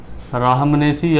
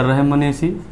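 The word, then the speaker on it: Rhamnaceae: Family आपकी वही है राहमनेसी या रहमनेसी, जो भी आप पढ़ें प्रोनाउंसिएशन में, रहमनेसी।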